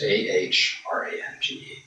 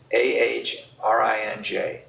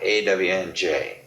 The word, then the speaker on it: orange: It's AHRANGE. Orange. Orange, not orange. Orange and not orange. I was thinking about that not long ago. It is AHRINJ, orange, not AWNJ, orange. Getting the pronunciation tuned to